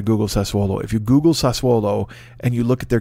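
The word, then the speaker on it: Sassuolo: is he goes there's a team called uh sasuomo and i'm like what he goes no sasuolo and i was like oh sasuolo uh he didn't say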